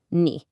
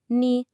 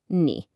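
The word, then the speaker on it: 你: Just like W, it's also got that tricky third tone. So again, listen for that dip knee. It's not a flat knee, but ni with that same rise and fall.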